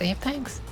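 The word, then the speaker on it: Aphex: Is it Aex or Apex? I hear people say Apex, but I see people write AEX. Is it actually like that? You spell it AEX, but it's pronounced Apex.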